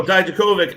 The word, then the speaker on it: Dijakovic: because, like you, KJ, they were struggling to pronounce it. Dominic Dijakovic. Yeah. I was like, Dominic Mysterio? No, Dijakovic.